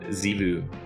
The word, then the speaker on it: Txevu: I think it was called Xivu. That's the correct way to say it. It's spelled Txevu, and it's pronounced Xivu.